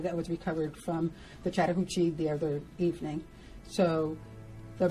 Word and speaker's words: Chattahoochee: Chattahoochee River. Can you believe that? Someone actually has a audio file on YouTube how to pronounce it. All right, so it's Chattahoochee River.